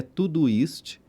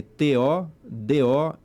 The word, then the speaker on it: Todoist: O nome é Todoist, né? A pronúncia, eu fiz uma pronúncia aqui aportuguesada para facilitar. Se escreve T-O-D-O-I-S-T, Todoist.